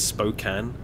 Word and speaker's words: Spokane: Oh, FYI, it's Spokane.